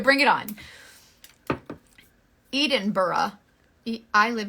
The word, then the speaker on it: Edinburgh: Edinburgh. Like, what? It's pronounced Edinburgh.